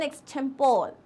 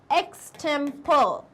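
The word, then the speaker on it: extempore: Talk, that is एन एक्सटेम्पोर। एक्सटेम्पर, okay अब इसके दो प्रोनाउंसिएशन होते हैं, एक होता है एक्सटेम्पोर और एक होता है एक्सटेम्परी. एक्सटेम्परी, बोथ आर करेक्ट.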